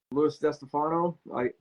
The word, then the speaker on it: Louis DeStefano: Well, Louis DeStefano. That's the way I pronounce it.